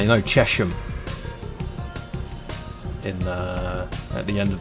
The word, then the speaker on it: Chesham: It's like, you know, Chesham in at the end of the Met line. It's actually Chesham because of the river Chess. It doesn't sound right, does it? And it's literally spelt like Chesham.